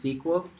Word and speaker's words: SQL: is called SQL or sequel it's kind of pronounced sequel it's and it stands for structured structured query